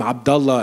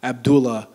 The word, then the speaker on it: Abdullah: the Dearborn Community it's me saying my name Abdullah and not Abdullah uh it's all these